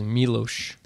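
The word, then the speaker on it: Miloš: Foreman or milos forman um I thought is melosh Milosz okay so I mispronounced that every single time then and that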